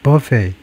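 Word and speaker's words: buffet: with the stress on the second syllable. The final t being silent.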